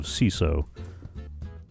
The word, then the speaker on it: CISO: He runs a podcast for Chief Information Security Officers, which apparently has adopted the ridiculous nickname of CISO. Because apparently that's how you pronounce C-I-S-O.